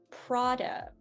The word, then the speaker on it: Prada: have heard about um prada prada uh the biggest thing i see with this one are the a's the a's are very tricky which is why we